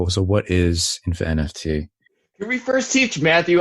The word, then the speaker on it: InfiNFT: like so what is infa nft can we first teach Matthew I'm sorry can we first teach Matthew how to say this properly yeah it's like Infinity my my tongue is